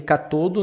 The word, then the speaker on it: catodo: E o catodo, se escreve catode, mas se lê catodo, né?